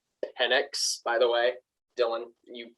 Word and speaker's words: Penix: By the way, it's pronounced Penix. By the way, Dylan, you Penix every year. Penix every day, every year, every game. I said Penix once. It's Penix.